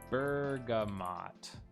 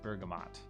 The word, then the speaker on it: bergamot: Bergamot. How do you pronounce this thing?